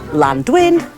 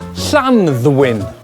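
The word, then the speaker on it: Llanddwyn: beautiful but its name we've heard this called landwin Clan win or the safest bet of all the island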